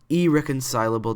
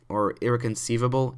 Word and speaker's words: irreconcilable: I know I pronounced that so wrong in my trailer breakdown. I think I pronounced it irreconceivable. Irreconceivable is how I pronounced it, which is, I don't know why I added the V. I just don't remember. That was really stupid of me, but it's irreconcilable, I think that's what it is now.